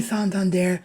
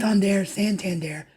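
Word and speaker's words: Santander: to be honest I'm not sure how you say it because I've heard it said both ways so if he does sign with the team hopefully we can get a definitive answer on whether it's santand there or sand but all I know is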